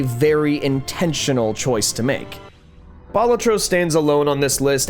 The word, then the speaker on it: Balatro: Latin for jester, and the emphasis is, it's on the first syllable, a la Balatro. I know everyone in the gaming community colloquially calls it Balatro, and to that I say, well, good for you, you're wrong.